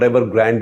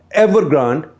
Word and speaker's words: Evergrande: And among those companies, this one, that is Evergrande, or Evergrande if you want to say so, Evergrande because it's spelled with an E in the end. Evergrande was the most buccaneering of all.